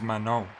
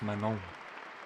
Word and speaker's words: Manon: It's Manon. Because in French, you don't pronounce the closing consonant in words. It's Manon.